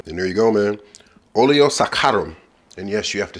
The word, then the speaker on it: Oleo Saccharum: thank me later and there you go man Olio sakarum and yes you have to say it like